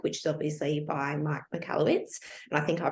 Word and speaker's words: Michalowicz: read that book, which is obviously by Mike Michalowicz, and I think I pronounced that correctly.